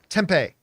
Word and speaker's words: Tempe: Arizona or is it how do you pronounce is it Timber Tempe Tempe Tempe okay tempeh uh Arizona it's like the greatest